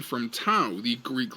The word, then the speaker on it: Tau: the creation of Taumon, getting its name from Tau, the Greek letter used as a symbol of life and resurrection. It could also be pronounced Tor, so it could be Tormon, just to differentiate